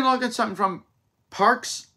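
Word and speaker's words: Parx: look at something from Parks racing by the way that's spelled p a r x well the name of the track is spelled like that so anyways there was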